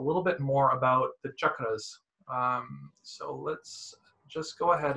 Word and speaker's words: cakras: And so cha actually is written as C-A, but it's pronounced as cha. So chakras is the actual word.